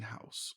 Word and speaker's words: Haus: a fashion house.